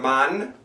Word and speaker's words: Mann: If there's an E at the end, you pronounce it. Dicke Frau. Fette Sau. It's a big pig. A fat pig. Langer Mann.